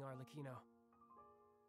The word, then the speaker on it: Arlecchino: Well, thanks for everything, Arlecchino. That's how you pronounce it, Alec.